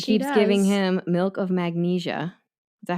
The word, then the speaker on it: magnesia: giving him milk of magnesia is that how you say it is this another type of writer thing back magnesium not magnesium milk of magnesia okay I think it's